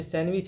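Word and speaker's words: sandwich: इन the word सैंडविच यहां पे सैंडविच है ये सैंडविच नहीं है यहां प डी साइलेंट है डी को नहीं पढ़ा जाता है तो इसका ऑप्शन डी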